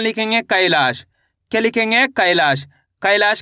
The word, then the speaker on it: कैलाश: कैलाश के अंदर पहले अक्षर कौन सा आएगा? कैलाश। जैसे ही कैलाश बोलेंगे तो यहां पे का उच्चारण कैसे हो रहा है? कैलाश। ऐ की मात्रा आ जाएगी।